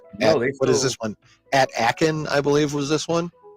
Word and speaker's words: Aachen: At Aachen, I believe, was this one. At Akron, yeah. At Akron, yeah. Akron. No, I think it was at Aachen. You fucking Ohioan, trying to make it Akron.